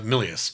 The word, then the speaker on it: Milius: was a a mil am I saying his name wrong uh Milius Milius he did Conan uh the barbarian barbarian Apocalypse